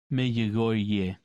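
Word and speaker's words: Medjugorje: I mean, there's a similarity, but so, like, what do you do with, like, J, evidently in Croatian, is more of a y sound. Mejogorje.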